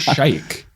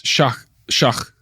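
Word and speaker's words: Sheikh: It's not shake. It's shach. And we asked the driver, what does that mean?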